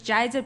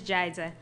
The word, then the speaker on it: Jeiza: is jeiza and the easiest way to remember my name is that it rhymes with Liza but as a Jay in extra a sometimes people look at and they're like what does that say and again is jeiza I am so happy